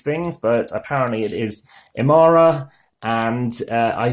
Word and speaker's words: Emara: marui you never know how people who should pronounce these things but apparently it is Amara and I say it was probably the euro